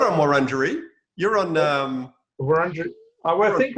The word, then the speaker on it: Wurundjeri: Wurundjeri. Yeah, well done. Wurundjeri. Yeah, but you're not on Wurundjeri.